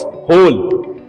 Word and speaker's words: whole: Okay, इसमें W silent होता है.